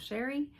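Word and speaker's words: Chere: My name is Sherry, and that is spelled C-H-E-R-E. It is spelled a little fancy, but pronounced plain old Sherry.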